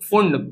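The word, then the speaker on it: Pfund: है तो उसको कहेंगे फंड पी एफ य एनडी फंड series P एफ यू एनडी फंड लिखते समय पी एफ यू एनडी लिखते हैं पढ़ने में फंड पढ़ते हैं पी साइलेंट होता है ठीक है और ये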